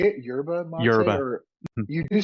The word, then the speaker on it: yerba mate: do you say it yurba mate or you do say you do pronounce the Y the why correct okay